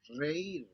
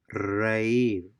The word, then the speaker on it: reír: Since these words have a written accent over the letter I, the diphthong is broken and the two vowels are pronounced separately. Deísmo, So we have a written accent or the letter I, and by definition, they will be pronounced separately. The vowel sounds will be pronounced separately and not blended together.